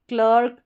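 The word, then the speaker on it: clerk: इस इ का उच्चारण इ नहीं होगा। ए नहीं होगा। अ होगा।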